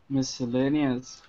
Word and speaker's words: miscellaneous: Miscellaneous. See? Sinchi. Easy. Dmitry. Miscellaneous. Miss Cell, like a prison cell, you know, Miss Cell, lady.